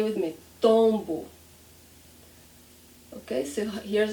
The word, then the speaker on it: tombo: And the trick, what is the trick? We don't close our lips.